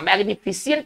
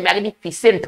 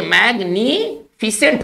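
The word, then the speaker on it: magnificent: सही थोड़े लिखेंगे तो आम तौर लोग इसे पढ़ते हैं ना मैग्नीफिशिएंट तक पढ़ते हैं जबकि उच्चारण होना चाहिए मैग्नीफिसेंट होना चाहिए तो सही जब हम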